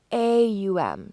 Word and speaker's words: Om: they would chant om it's spelled om but it's pronounced AUM sort of like a